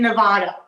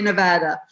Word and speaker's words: Nevada: citizen living in nevada which you have learned to pronounce beautifully nevada oh yeah gotta be nevada um of course i'm english i want i want to say nevada but i keep i keep reminding myself no it's got to be nevada um